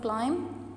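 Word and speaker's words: climb: इन letters को हम pronounce नहीं करते, ये साइलेंट होते हैं. आई am giving you an example of क्लाइम.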